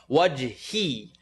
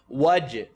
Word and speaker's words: وجهي: Wajhi. I want to hear the E. إلا ابتغاء وجهي, wajh. Listen to it incorrectly. Wajhi, wajh, wajhi ربه الأعلى, ربه الأعلى, أعلى.